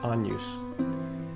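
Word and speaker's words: Agnus: unused AE it looks like Agnes but we pronounce it on use number three Renaissance instrumental music was intended for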